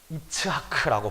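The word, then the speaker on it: יצחק: 이삭의 이름을 히브리식으로 그대로 발음하면 이츠하크라고 발음합니다.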